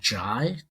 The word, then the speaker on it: Jai: There's another programming language project out there called Jai, or I've heard some people call it J. It's spelled JAI.